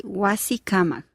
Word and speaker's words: Wasikamak: Architect, you have to say Wasikamak. wasikamach.